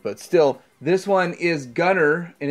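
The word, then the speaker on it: Gunnyr: still this one is Gunner and it's spelled funny g-u-n-n-y-r number 72 is bent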